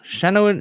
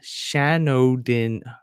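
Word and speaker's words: Shanodin: yeah here we go Shannon Shannon oh we're doing dryads Shan Odin I've been mispronouncing this my whole life Shan Odin dryads done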